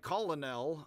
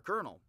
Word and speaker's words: colonel: A colonel, which looks like colonel, I always thought to say it that way as a kid, and, you know, tried to learn better now. Pronounced colonel by English speakers, confusingly, it leads a column, which is why it's a colonel, or a colonel. Mispronounced, perhaps, a portion of